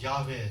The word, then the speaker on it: 야훼: 여호와 하면은 여호와, 야훼, 정확히는 야훼라고 읽는데 그 뜻은 첫째, 스스로 영원히 계신 분, 그런 뜻입니다.